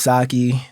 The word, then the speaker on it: Saekyi: you introduce yourself all right well my name's sake that's spelled s-a-e-k-y-i I'm a independent artist from Northern